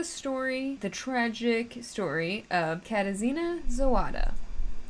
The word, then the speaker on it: Katarzyna: This is the story, the tragic story of Katarzyna Zawada. I had to like phonetically spell that out for myself because there's a silent R in that name.